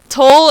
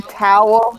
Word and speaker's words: Toul: And Wouldn't it be towel? No. Like foul? no, absolutely not. And if you say it like that, she may just smite you. Oh, Is it Toul? Toul's finger. It's Toul's finger. Toul. Toul's. Toul is in Seoul.